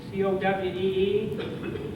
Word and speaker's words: Cowee: If you can see Cowee, C-O-W-E-E, Cherokee pronounced that Cowee.